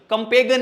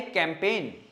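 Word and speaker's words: campaign: कंपेगन नहीं, क्या है ये? कैंपेन।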